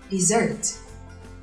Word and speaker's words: dessert: Chỉ cần bỏ một chữ S thôi, chúng ta có từ desert với trọng âm hoàn toàn khác và cách đọc cũng vô cùng khác.